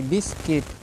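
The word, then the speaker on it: biscuit: एस सी आई टी बिस्किट ठीक है आप हमेशा याद रखें कि अगर यू के बाद कहीं भी कोई भी स्वर आ रहा है तो आप यू का प्रोनाउंस बिल्कुल नहीं करेंगे ठीक है ये आप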